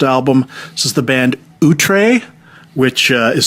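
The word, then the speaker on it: Outre: This is the band Utree, which uh is spelled O U T R E, and it's their album Ghost Chance.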